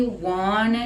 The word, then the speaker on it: wanna: show it one two becomes wanna pronunciation and this is very common in speaking and singing wanna show it show